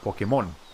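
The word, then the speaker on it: Pokémon: so in english right in english you say po come on pokemon or pokemon or whatever the the accented part is right here on the pole in spanish we call it pokemon so the mon part is uh is the one that's accented but the actual accent mark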